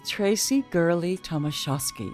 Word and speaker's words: Traci Gurley-Tomashosky: Here's Traci Gurley-Tomashosky. Hey, I'm here with Traci Gurley-Tomashosky.